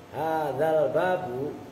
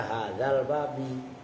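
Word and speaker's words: هذا الباب: Hadzal babu, itu cara baca begitu. Hadzal babu, karena al babu musar ilaih, bukan mudhof ilaih. Itu sering banyak santri yang salah. Banyak yang baca hadzal babi seolah-olah hadza mudhof, al babi mudhof ilaih.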